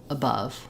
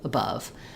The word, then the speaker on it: above: unstressed so for example in a word like above where we have the unstressed schah and then the stress schah it's just short long AB above above the shortness also contributes to not being a clear vowel so here it's clear